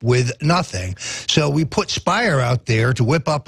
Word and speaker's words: Speier: Speier rhymes with liar.